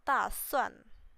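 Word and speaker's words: 打算: Kalau orang Indo ngomongnya da. Tapi di sini bacanya tuh ta. Pakai T gitu. Ta. Ini cara bacanya tuh ta suan. Jadi dia bukan da.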